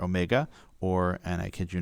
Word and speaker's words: omega: ohm and it's symbolized by the greek letter omega or and i kid you not because that's